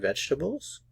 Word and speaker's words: vegetables: Do they eat fruit and vegetables? Do they eat fruit, and vegetables? Aquí no pronunciamos la vocal E.